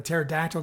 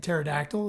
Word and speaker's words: pterodactyl: Zora says, "What does it sound like when a pterodactyl goes to the bathroom?" And Gabe says, "What?" And Zora says, "Nothing. The P is silent." And then Gabe says, "The P? There's no P in pterodactyl."